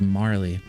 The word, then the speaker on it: Marle: it cuz Marlo Mar how do you pronounce this? I'm going to look it up while this cut scene goes through. Marley. Marl. Marl. So, it's Marley. Don't really like the name Marley, not going to lie.